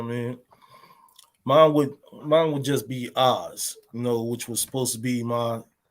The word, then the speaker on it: AHS: So that's AHS, but pronunciated Oz.